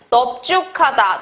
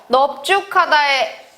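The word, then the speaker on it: 넓죽하다: 자, 여기에 봤듯이 넙죽하다, 넙둥굴다 같은 경우에는 예외적으로 비읍이 남습니다. 그래서 넙죽하다에 리을 비읍이 있지만 발음은 넙으로 되고요.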